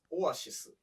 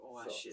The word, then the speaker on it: Oasis: ああ、なるほど。これ、まあ、オエシス。そもそも、basically, Japanese says オアシス。 A lot of Japanese people say oasis.